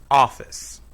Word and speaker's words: office: In office, the first syllable is stressed. Office.